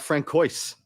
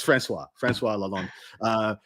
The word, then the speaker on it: Francois Lalonde: It's my good mate Frank Coyce. I pronounced his name incorrectly the very first time I read it out on stream, and now I have to pronounce it like that forevermore. That's Francois Lalonde.